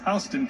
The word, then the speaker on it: Houston: one of them is in republican county i mispronounced it earlier for the record i want to say correctly it's houston county now it's houston county there's also a